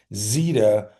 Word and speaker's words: Zeta: Zetta or Zeta but if you have a vow consonant vowel the first vowel is long and the second vowel is silent right like in bike. So I'm going with that. So I'm going to say it's zeta global holdings just being um you know proper English.